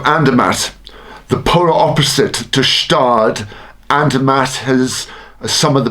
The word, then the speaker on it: Gstaad: So Stade, when you think of ski resorts that say old inherited money, the silent G in Stade comes to mind.